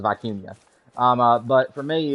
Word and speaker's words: vicuña: it vicuña, and then some people are like putting a y in there and calling it vicuña, and apparently that's actually the way you pronounce it is vicuña.